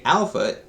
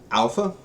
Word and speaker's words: Alpha: Like when you look at alpha, the phonetic pronunciation has AL and then FAH. The reason they do that has to do with the PH sound.